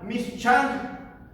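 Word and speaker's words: מִשְׁכָּן: De la palabra hebrea que se pronuncia mishkan, se puede decir que un tabernáculo es un lugar donde Dios habitaría.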